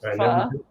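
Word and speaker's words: phở: I think they actually pronounce it pho.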